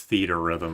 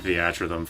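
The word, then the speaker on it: Theatrhythm: Also, I know it's pronounced theater rhythm. I've just been saying theatric for literally like 15 years.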